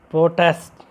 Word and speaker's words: protest: So we stressed on the first syllable pro. Okay, we emphasize, you stressed on protest. Like second word class, that is when we used protest as a verb. Protest. Here we focused, we stressed on second syllable, that is test.